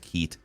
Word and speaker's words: Keat: I believe his last name is pronounced Keat.